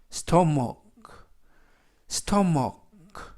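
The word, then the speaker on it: stomach: 앱은 뭐 베이는 어 ch 는 이중 자음 으로서 예외적으로 크 발음이 납니다 그래서 스토머 스토머 그 라고 발음합니다 뜻은 5위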